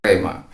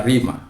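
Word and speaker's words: rhema: Kalau dia sudah menjadi rima dalam kehidupanmu, orang katakan rema, tapi pronunciasinya adalah rima.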